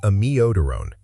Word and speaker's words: amiodarone: Drug number 3 is amiodarone. This is one of the most commonly mispronounced drug names in clinical English.